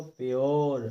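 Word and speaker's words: pure: जैसे कि देखो प्योर, तो देखिए हमने आर का ध्यान दिया, केवल आर का उच्चारण किया, ई का नहीं किया, क्योंकि वैसे तो पूरे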